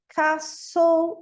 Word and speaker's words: castle: O T em castle, whistle.